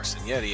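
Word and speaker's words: Cignetti: Kurt Signetti or Senetti as it's pronounced in Spanish.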